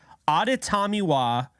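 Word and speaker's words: Adetomiwa: maybe 0.1 of anybody talking NFL draft can pronounce correctly it is auditamiwa I did say that correctly because I have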